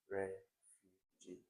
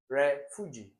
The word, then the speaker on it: refugee: Okay, so fu has the longest stress on it in this particular word. So B is a correctly stressed syllable in refugee. If you put it on this, it will be refugee. It will be refugee, which doesn't make any sense.